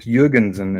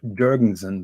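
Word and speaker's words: Jürgensen: It's called Jurgensen and not Jurgensen, like you people say. Like I've been mispronouncing it all the time.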